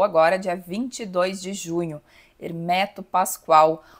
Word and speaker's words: Hermeto: perguntei para ele era como que pronunciava o nome, se Hermeto ou Hermeto. E aí ele disse que Hermeto, então eu sempre procuro pronunciar da mesma forma que ele.